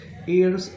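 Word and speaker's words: heirs: ईयर्स, H silent आहे।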